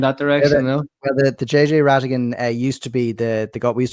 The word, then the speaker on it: Rhatiggan: It's the silent H that gets people, you know, the RHAT throws people off.